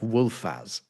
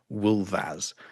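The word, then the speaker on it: wulfas: So the old English plural of wolf looks like wolfaz, right? It's got it's got an f in it, but it's not. It's pronounced wolvas.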